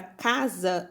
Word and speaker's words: casa: quando eu falo casa a palavra casa ela se escreve com a letra s mas ela tem som de z tá quando eu